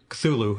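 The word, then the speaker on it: Cthulhu: the Mythos comes interesting okay specifically that that culu as we'll pronounce it uh he does not pronounce it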